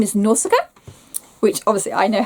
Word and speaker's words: Nausicaa: Her name is Nausicaa, which obviously I know how to pronounce because of the Ghibli film.